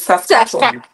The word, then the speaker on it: Saskatchewan: like a year before I knew how to pronounce sasan so it's SAS sasan calm down sasan sasan yes so it's s